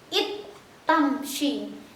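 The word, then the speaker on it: إذ تمشي: Jadi bacanya it tamshi.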